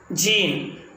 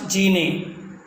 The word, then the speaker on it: gene: must not utter e gene not genie gene gene hate